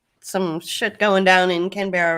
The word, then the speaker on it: Canberra: Yeah, Canberra. Okay. Canberra. Yeah. I heard you say Canberra the other day, and that works as well.